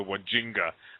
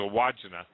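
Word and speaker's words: Wandjina: I used to call them the Wajinga, but it's a Wajina.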